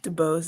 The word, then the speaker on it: DuBose: name is debose dubose is how you pronounce it everyone always gets caught up on it and they're like shouldn't i say that you know it's been my entire life but um it's debose so um what i